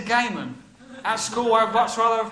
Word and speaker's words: Gamon: Some people say my name's not really Gamon, it's Gammon. It really is Gamon.